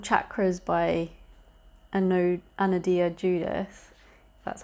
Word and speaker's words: Anodea Judith: reading this book it's called chakras by ano anodia judith that's how you say her name and uh